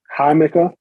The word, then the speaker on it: Jamaica: have something called it's spelled Jamaica but it's pronounced Haymaker with that H that is also Sorrel hmm